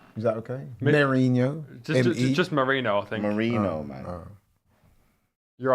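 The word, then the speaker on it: Merino: your pronunciation of Mikel Marino what is it Marino I think you said Mourinho you said Mourinho he's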